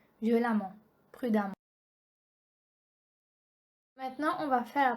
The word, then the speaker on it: prudemment: Note E-M-M-E-N-T et A-M-M-E-N-T se prononcent amant. Donc avec A-M-A-N-T. Ça c'est la prononciation. On prononce E-M-M-E-N-T et A-M-M-E-N-T comme amant. Par exemple, on a dit méchamment, brillamment, violemment, prudemment.